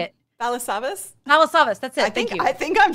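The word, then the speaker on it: Rob Balasabas: We've got some of our partners, Roberto Blake, Dean Niman, Rob Basilas. Oh gosh, I can never say it. How do you say it? Balasavas.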